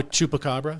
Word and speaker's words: Chupacabra: Oh, Chupacabra?